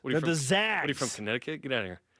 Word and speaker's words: Zags: It's not the Zogs. They're the Zags.